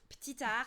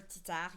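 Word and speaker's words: Ptitard: Poliwag is Petitard or Titard. You wouldn't necessarily pronounce the P. 'Cause it's petite.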